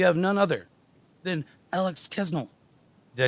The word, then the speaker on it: Kasznel: I say Kasznel usually, but like there's an S and a Z. There's too many consonants. It's a weird name.